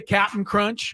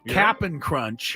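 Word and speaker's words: Cap'n Crunch: I'm pronouncing that correctly it is not Captain Crunch Captain it's cap apostrophe n it is look at the box it is capping crunch yeah uh but I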